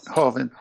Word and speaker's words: Hovind: So I heard Kent Hovine's got Ken Hovine, is that how you say his name? Hovind.